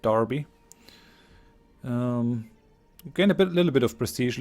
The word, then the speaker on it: Derby: Battle of Derby which Darby I think you say it like that Darby we're going a bit